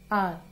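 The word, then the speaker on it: hour: अब आप देखो कि ये तो एच से स्टार्ट है एच तो वोवल नहीं होता लेकिन इसमें क्या है एच जो है वो साइलेंट है इसको हम क्या बोलते हैं आर एन आर तो इसलिए हम यहां पे एन वर्ड यूज कर रहे हैं क्योंकि इसकी साउंड क्या आती है ओ की आती है आर. तो एच क्या है यहाँ पे साइलेंट है एच की आवाज हमें नहीं आती इसने बोलते हैं तो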